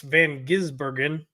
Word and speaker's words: van Gisbergen: finished in7 Shane vanin I've been saying his name wrong the whole time it's van gisbergen finishes 28th Jimmy Johnson 29th John Hunter neek